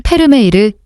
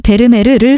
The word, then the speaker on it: 페르메이르: 1667년 경 1 요한네스 페르메이르 요하니스 범어에 범어의 외래어 표기는 현지어 발음을 우선하는 원칙에 따라 페르메이르 범어이다 이전에는 영어식 발음인 베르메르 흔히 썼다 요한 스 페르메이르는 얀